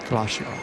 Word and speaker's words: glacier: And we have expanded onto the Glacier, or as some people say, and I love the pronunciation, Glacier.